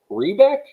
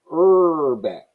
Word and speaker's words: Herbeck: It's Rebeck? Herbeck.